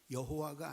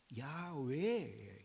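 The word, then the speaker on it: 야훼: 원래에 원래의 발음대로 말하자면 이것은 여호와가 아니라 야외예요. 야외 야외라고 읽어야지 맞는데 이것은 뭐냐 하면은 하나님의 본명이에요.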